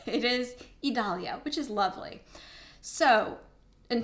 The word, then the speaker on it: Idalia: I had to look it up because I'm from the deep south, and in Georgia, we have a city called Vidalia. So in my head, I was calling it Idalia. It is Idalia, which is lovely.